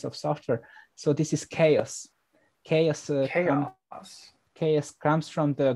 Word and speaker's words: XaoS: this a piece of software so this is chaos chaos ks comes from the greek history so